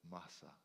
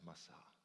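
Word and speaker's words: Massah: for and as it Masa the place of testing in the wilderness. Perhaps it's pronounced Massa.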